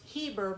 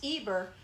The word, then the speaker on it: Eber: of eber which actually in the hebrew has an h in front of it which we would pronounce heber but in the hebrew it's eber great grandson of shem